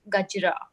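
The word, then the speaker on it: गजरा: And these are jasmine flowers that we call in India, or in Hindi, we call it gajra. So I don't know if you'll be able to pronounce it.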